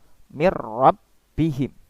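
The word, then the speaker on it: مِن رَّبِّهِمْ: Di sini kita membacanya juga dilebur, ya, dilebur. Tapi meleburnya ini tanpa dengung. Tidak boleh disertai dengung. Tidak boleh mir. Itu salah. Yang betul adalah mir rabbihim. Seperti di tasdid biasa, tanpa ada dengungan.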